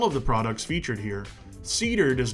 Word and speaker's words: CeDUR: Up next is CeDUR. That's Cedar spelled with a U.